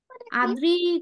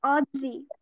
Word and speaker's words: অদৃ: সংখ্যা কতটি 13 টি আদ্রির কোন প্রশ্ন আচ্ছা আদ্রির নাম কি আদ্রি নাকি অদৃ ঠিকমত উচ্চারণ করছি আমার নাম অদৃ আচ্ছা সরি এইজন্যই কনফিউজ